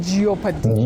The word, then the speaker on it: jeopardy: Jeopardy. Jeopardy? No. You say jeopardy because the o in it is silent, not pronounced.